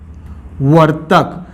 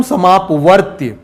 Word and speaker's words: समापवर्तक: से प्रोनाउंस करना है अधिकतर बच्चे क्या कहते हैं लघुत्तम समापवर्त्य और महत्तम समापवर्त्य इसको यदि यह त नहीं है समापवर्तक है इसको यदि अच्छे